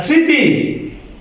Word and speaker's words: স্মৃতি: এবার মফলার নিয়ম, স্মৃতি শব্দের প্রথমে বিদায়, ময়ের উচ্চারণ সাইলেন্ট সাউন্ড।